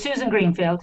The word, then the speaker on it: Susan Greenfield: So, will you say your name exactly the way it's pronounced so that I don't get it wrong? It's Susan Greenfield.